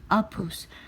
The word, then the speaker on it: Apus: Apus pronunciation is Apus.